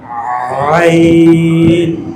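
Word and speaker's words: عين: প্রথমে বলবেন এই গলার এখান থেকে আওয়াজ করো, এরপরে বলেন, এরপরে আওয়াজ করা আইন, আইন, আইন।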